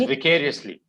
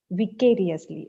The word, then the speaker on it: vicariously: the through the eyes of another person it's pronounced as vicariously vicariously okay basically what it basically means is that